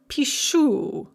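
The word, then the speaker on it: пишу: We drop off the whole sat and we change it to shu. That sa changes to sh. Just like in English, we say face, facial. It's exactly the same pronunciation change. In Russian, pisat, pishu.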